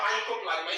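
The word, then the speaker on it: Mycoplasma: ये जो देख रहे हैं आप, ये आपका माइकोप्लाज्मा। स्पेलिंग ध्यान देना, माइक्रो नहीं माइको, देखिए वाई होगा, वहां आई लिखी है, MYCO माइको होगा।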